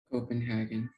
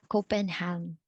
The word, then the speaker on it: Copenhagen: to hear copenhagen copenhagen so it's not copenhagen i was a bit surprised and fascinated then oh it's not us how i read it no phonetically copenhagen these are one of the difficulties of other languages which are not phonetically perfect okay so copenhagen how